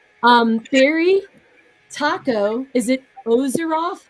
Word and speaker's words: Azeroth: little old me um Theory Taco is it ozeroth Azeroth oh yeah you got that right no more people pronounce it off but you're right those are